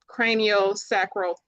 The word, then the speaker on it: craniosacral: So, um, what led you into cranio sacral therapy? Did I pronounce it right this time?